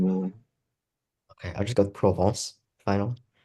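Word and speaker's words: Provence: its modern name yeah you have to say it like frenchly okay I would defer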